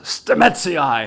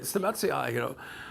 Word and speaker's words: Stamets: And for us, the pronounced Latin binomials, Stamets has a nice rhythm to it, you know?